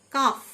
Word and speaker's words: calf: CALF, কাফ, মানে বাছুর, এল silent. Walk, WALK, এল silent, walk, মানে হাঁটা।